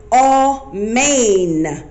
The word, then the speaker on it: amen: so with that word amen it's what actually pronounced from the scripture but it sounds like phonetically all main as in a horse's mane so all and main